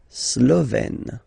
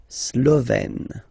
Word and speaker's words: Slovène: Slovène. Remember, E accent grave, you open it. Slovène.